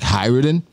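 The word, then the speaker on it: Hajrudin: People are like complaining about how I said hi Rudin. Like, oh, the J is silent. Like, oh, fucking One Piece... How is it? Fandom. It's like Hyruden.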